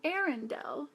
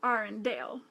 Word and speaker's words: Arendelle: your character like it her name is Anna from arendelle not Anna from our and Dale and kids will know